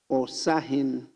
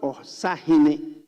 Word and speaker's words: Osahin: So he has put there Osahin. It's not Osahine. It's different pronunciation.